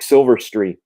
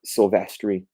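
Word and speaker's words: Silvestri: pronounce stuff right anyway I used to call him uh Mark silverry even though it's Mark sylvestri uh okay we're going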